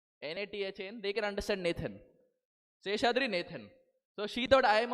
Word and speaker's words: Seshadri Nathan: So I said, "Seshadri Nathan." So she said, "Okay, can you spell it?"